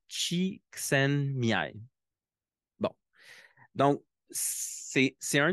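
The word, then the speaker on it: Csikszentmihalyi: puis dans le fond on prononce son nom de cette façonlà Chen Miai bon donc c'est c'est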